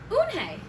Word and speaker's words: Unhei: "Unhe said."